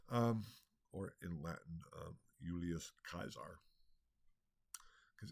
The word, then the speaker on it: Caesar: or in Latin ulius kaisar because in classical Latin the C is pronounced as a hard C or like a k AE is an I